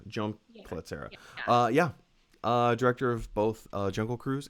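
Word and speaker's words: Jaume Collet-Serra: How do you pronounce his name? Jome Collet-Serra. Jome Collet-Serra.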